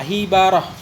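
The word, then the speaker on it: حبرة: Cara baca hibrah bikasril ha wa fathil ba, hibarah.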